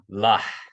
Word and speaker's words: la: So that's la. La. La. You have to, it's a glottal H, right?